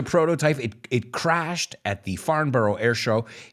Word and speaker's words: Farnborough: Farnborough, or Farnborough, as the British would say. It's in England, so I guess we have to pronounce it like they do.